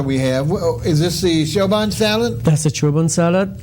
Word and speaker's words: Choban: Is this the Choban salad?